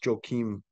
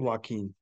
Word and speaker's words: Joaquin: the LIV Golf Tour is I can't even pronounce his name, is Joachim Neiman. Niemann. Yeah. He's a I think super it's, is stud. it Joachim or Joaquin? Joaquin.